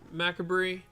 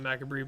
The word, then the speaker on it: Macabre: One of the bits of tech and spice is Fairy Macabre. Let's go. I know it's not Macabre, but that's how we have to pronounce it around here in Southeast Michigan.